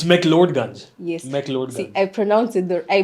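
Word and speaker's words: McLeod Ganj: It's McLeodganj. Yes. See, McLeodganj. I pronounce it in an You were English close.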